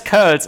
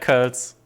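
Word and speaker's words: Coeurl: I just call them quirls. Like I'm used to don't call them curls because there's an O-E in there, and in German you pronounce it letter as Ö.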